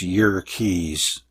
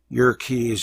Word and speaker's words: Yerkes: Hiltner of Yerkes Observatory, actually it's Yerkes, Wikipedia says to pronounce it that way, Yerkes Observatory found that the light from certain stars is strongly polarized.